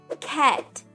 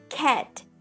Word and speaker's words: cat: sabe pronunciar essa letrinha o mais interessante é quando você vai pronunciar a letrinha a dentro de uma palavra olha só essa palavra aqui por exemplo cat cat Aqui você vê que o a ele está aqui mas ele não significa não tem aquele som